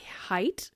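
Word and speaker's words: Haidt: anxious generation from Jonathan height I think you pronounce it height h a i DT so good I'm in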